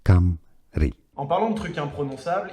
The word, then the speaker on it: Cymru: Bon, alors je vais te laisser ce monsieur-là le prononcer. Cymru, Cymru.